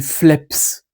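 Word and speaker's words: φλέψ: Un jour, lointain dans la langue, ça s'est prononcé phlebs. Sauf que la labiale voisée, donc c'est-à-dire sonore du b, avec le sigma, c'est dur à prononcer. Surtout beaucoup de fois. Phlebs, phlebs, phlebs. Et au bout d'un moment, la labiale sonore, en fait, c'est assourdi, est devenue sourde. Et la labiale sourde, c'est un P.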